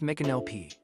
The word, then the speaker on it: Micanopy: Today we are taking a driving tour of Micanopy, Florida, pronounced Micanopy.